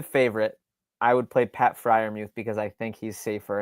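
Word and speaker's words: Freiermuth: it's pronounced Pat Fryermuth. Yeah, okay.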